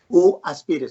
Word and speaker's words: UAspire: Se llama UAspire y se escribe UAspire. Ajá. UAspire, so you, just the U, right?